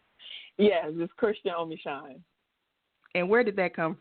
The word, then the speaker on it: Christian Omeshun: first am I saying it correctly yes is Christian omine and where did that come from so the